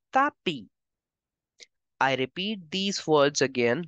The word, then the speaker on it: tapis: S is for decoration. I will give the sound of E. So together you will pronounce it as le tapis.